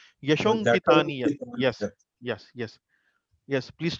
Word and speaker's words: यशोऽङ्कितानि यत्: So not Yasho Ankitani, Yashonkitaniat.